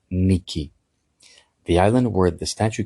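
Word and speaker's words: Νίκη: The word that is used for victory in Greek, and it's not a name, it's a word, it's a common word in Greek, it's the word Niki.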